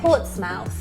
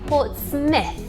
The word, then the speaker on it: Portsmouth: one we got wrong we said port's mouth it's actually Port Smith Smith as in sounding like s-m-i-t-h I wouldn't have got